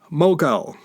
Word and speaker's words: Mogul: We've all heard of the Mongol Empire in India. Mogul was the Arab or Persian pronunciation of Mongol.